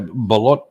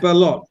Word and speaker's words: balut: But like I say, balut, which is a virtually a fertile chicken egg, gets to 25 days. 25 days, and then they steam. How do you spell that? Balut.